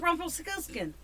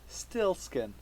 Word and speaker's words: Rumpelstiltskin: How do you screw up Rumpelstiltskin? You're missing the P. Rumpelstiltskin. Stillskin.